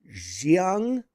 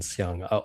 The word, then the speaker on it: Siang: Yeah, I think it's slightly different, but you can just sort of default to the same pronunciation, Siang. I will say, tongue in cheek, I have gone on stages and on podcasts and shows and have said, look, pronounce Siang, spell with an X, no relation to me.